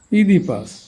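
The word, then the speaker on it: Oedipus: English ওয়ার্ডের শুরুতে বা মধ্যে ও ই এর উচ্চারণ ই হয়। তো ও ই, এই যে ecology, ইনফাইল, oestrogen, oesophagus, over, ইডিপাস, Phoenix.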